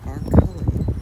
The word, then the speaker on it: Arculli: I've known her for 20 years and I finally said, "How do you say your last name?" It is Arully.